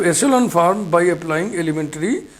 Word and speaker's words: echelon: एशेलॉन, इसको एकेलन क भी पढ़ते हैं लोग, आप नहीं पढ़िएगा। इसका जो उच्चारण है, प्रोनाउंसिएशन है, वो एशेलॉन है।